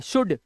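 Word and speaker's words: should: है ऐसे ही शुड अब ये एल साइलेंट है ध्यान रखना एल नहीं बोलना शुल्ड नहीं बोलना है शुड ठीक है जैसे कुड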